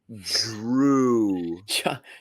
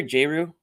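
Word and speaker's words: Jrue: fine and yeah it's who is Drew it's Drew don't get John going on the the pronunciation again would you call him start the year jru J Ru what's up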